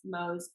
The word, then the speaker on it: Mohs: So, can you explain a little bit about what your fellowship is, Mohs? Is that how you pronounce it? Mohs? Yeah, Um, Mohs, yeah.